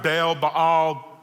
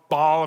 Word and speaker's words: Baal: And it's either pronounced Baal, Baal, all different ways that it's said.